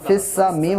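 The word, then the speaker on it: في السماء: अब यहाँ पे या और अलिफ और लाम है, ये नहीं पढ़े जाएंगे, साइलेंट हैं। आप फ़ा को डायरेक्टली सीन से मिलाएंगे।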